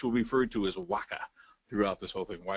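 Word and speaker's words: WHCA: communications agency which will be referred to as Waka throughout this whole thing why it's pronounced like that I don't really know on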